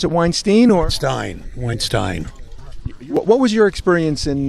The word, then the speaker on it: Weinstein: Did you pronounce it Weinstein or? Weinstein.